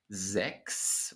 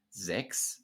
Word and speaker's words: sechs: Sechs with a K sound, as I already explained, but 16. So in this word, you do pronounce the CH, the soft CH following the front vowel. Sechs, 16.